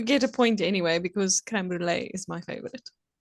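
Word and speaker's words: crème brûlée: It's creme brule. And it has to be pronounced the French way.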